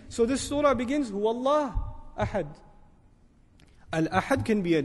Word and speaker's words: Allah: But what do we say when we pronounce Allah, we make it heavy, we break the norm of the Arabic language for this word.